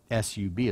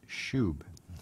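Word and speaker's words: שׁוּב: It's spelled S-U-B. It looks like sub, but it's pronounced shub, meaning return or return back to, return to the Lord.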